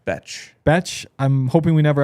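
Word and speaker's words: Bech: It's pronounced Betch.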